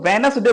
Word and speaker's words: Wednesday: सबसे ज्यादा जो कंफ्यूजन होता है वो वेनसडे में होता है, क्योंकि देखो वेनसडे बोल रहे हैं, इसमें डी जो है वो साइलेंट होता है, WEDNESDAY, वेनसडे माने होता है बुधवार।